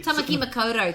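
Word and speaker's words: Tāmaki Makaurau: Tamaki Makoto, thank you very much.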